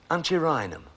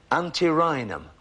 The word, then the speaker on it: antirrhinum: the scientific name for a Snapdragon which is antirrhinum sorry I'll say it again for you a scientific name for a Snapdragon which is antirrhinum a n see a ry in him it's